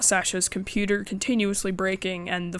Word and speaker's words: Sasha: his files and yes I'm calling her Sasha I know that I am pronouncing every single other character's name with an American accent but Sasha just sounds straight up incorrect to me so her name is Sasha fight